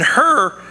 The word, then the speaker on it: Hur: And Hur is it's actually pronounced like her, like you got to cough something out.